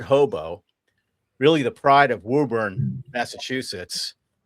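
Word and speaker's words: Woburn: Really the pride of Wuburn, Massachusetts. Can you spell that? Wuburn. Wuben. New England. We like to say Wuben. The pride of Wuben.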